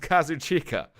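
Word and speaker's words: Kazuchika: an interview the old himself tell me it's pronounced kazoo chica I think he'd know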